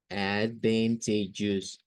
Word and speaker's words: advantageous: Y podríamos decir, mire, la primera sílaba es como decir A y D, como ad. Luego aquí va a decir algo como esto, advan, advan. Luego vamos a decir T, advantage.